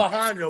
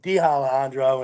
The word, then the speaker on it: Alejandro: Alejandro, but I was calling him D Alejandro, and he was like, "That's not it."